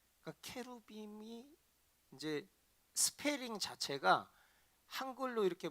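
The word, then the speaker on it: cherubim: 근데 이거를 저도 참 안타까운 게 이거 우리 한글 성경에 이걸 그룹 이렇게 번역을 했는데 그러니까 영어로 그리고 원문으로 읽을 때는 케루빔이라고 그래요. 케루빔. 그러니까 케루빔이 이제 스페링 자체가 한글로 이렇게 뭐 데이빗을 다윗 이렇게 한글로 번역한 것처럼 케루빔을 그룹이라고 읽어버린 거지.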